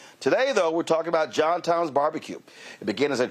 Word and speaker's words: JohnTom: John Tom is my grandpa. It's his first and middle name, and it's what his family affectionately called him. They were Southern from Mississippi, so they pronounced it JohnTom.